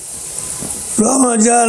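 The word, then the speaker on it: رمضان: সও বা রোজা ফরজ রমাজানের অর্থ শব্দটি মূলত রমজান নয় বরং রমাজান মানুষ এই শব্দটির ভুল উচ্চারণ করে থাকে লোকেরা এর অনেক অর্থই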